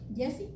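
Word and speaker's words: Giezi: Se llama Jesse. Jesse, ok, así se pronuncia, porque yo lo pronuncio como está escrito.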